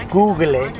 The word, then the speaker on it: Google: But years ago, years and years ago when Google first started, because it's phonetically called googly in Spanish, that is what people used to call it.